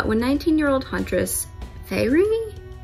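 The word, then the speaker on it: Feyre: talking about uh when 19 year old huntress fairy f e y r e fairy that's what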